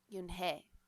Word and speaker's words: Eun-hee: Your name is Eun-hee? He asked her with his eyes open wide. Yunhei looked quickly at Mr. Kim, then turned to Joey. She nodded slowly. Yes, it's pronounced Yunhei. And it means grace, Mr. Kim added. Yunhei, Joey said slowly, and this time perfectly.